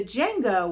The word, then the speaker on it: Django: And it's the Django with a silent D.